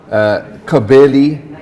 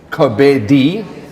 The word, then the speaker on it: Kobeli: When you look at it in the official race card, it reads Kobeli, but it's nowhere near that. It's Kobedi. Explain to us why. Because in Sotho, L-I pronounce as D.